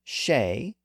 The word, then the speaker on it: Shea: So these names are also exceptions where the EA spelling is still pronounced as A. These Irish names include Shea, S-H-E-A, Beatty, B-E-A-T-T-Y, Yeats, Y-E-A-T-S, Seamus, S-E-A-M-U-S, and Reagan, R-E-A-G-A-N.